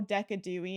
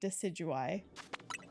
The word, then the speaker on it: Decidueye: And I know it's not right, but it is simply the best way to say it. It is so much more fun than saying Decidueye.